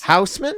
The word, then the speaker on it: Hausmann: Did I say it right? Wow, that is actually the most incorrect my last name's ever been pronounced. Really? What the fuck is wrong with Hausmann. you? Hausmann. Yes. Houseman? Yeah, there you go.